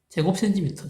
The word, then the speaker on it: 제곱센티미터: 이건 제곱미터라고 읽죠. 제곱미터. 제곱센티미터, 제곱미터.